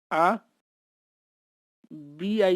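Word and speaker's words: habit: as j of letter h is always always silent example h-a-b-i-t h is silent a is pronounced as a bi is pronounced as b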